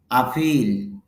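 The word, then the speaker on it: appeal: আপিল, আবেদন, আকর্ষণ। আপিল, আবেদন, আকর্ষণ। এখানে খেয়াল করেন ফি মধ্যে দুটা ফোঁটা আছে মানে কোলন আর কি, তার মানে এখানে উচ্চারণটা দীর্ঘ হবে। আপিল বলে দীর্ঘ হবে সাউন্ডটা।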